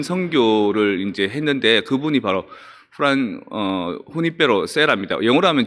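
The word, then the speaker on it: Junípero: 뭐 그 제일 긴 선교를 이제 했는데 그분이 바로 후니페로 세라입니다. 영어로 하면 주니페로 세라라고 할 수 있는데 스페인 사람들은 J 발음을 그 후음, 그 목구멍 소리를 내거든요.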